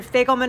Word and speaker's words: Fagelman: Fagelman assault. It rhymes with bagel man, but with an F.